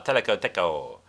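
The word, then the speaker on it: teleco-teco: uh brazilian samba a teleco deco okay that's an onomatopoeic name by the way i'm not mispronouncing it it's because of the tech goal of the percussion okay if you like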